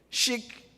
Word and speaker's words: chic: Is it chic or chic? Chic. In Bethel, we pronounce C-H-I-C, chic.